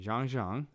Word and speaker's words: Jeong Jeong: I don't want to butcher the name. Jeong Jeong. Jeong Jeong.